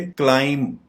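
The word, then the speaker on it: climb: इसको सिर्फ यहाँ पे इसका बी आपको दिखाई नहीं दे रहा, यानी बी साइलेंट है। इसको हम प्रोनाउंस करेंगे क्लाइम, क्लाइम, यानी बी आप प्रोनाउंस नहीं करेंगे, जिससे इसकी प्रोनाउंसिएशन ठीक हो जाएगी, क्लाइम।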